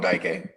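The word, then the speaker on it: Dike: Man, no, you said it right. We call him Daike.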